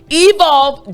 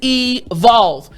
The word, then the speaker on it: evolve: again the word is evolve but there are two letters i want to focus on the l and the v now the v sound